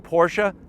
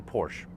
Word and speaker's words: Porsche: Are you going Porsche? That's how you pronounce it. You don't say Porsche. Porsche. That's That's how it's pronounced.